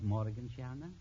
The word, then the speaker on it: Morgensterne: Am I pronouncing it right, Morgensterne? That's right, Mr. Bergen. You pronounced it perfectly.